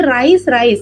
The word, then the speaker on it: raise: இதை ரைஸ் அப்படிம்பீங்களா இல்ல ரைஸ் அப்படிம்பீங்களா? ரைஸா? நோ, ரேஸ். இது வந்து ரேஸ்.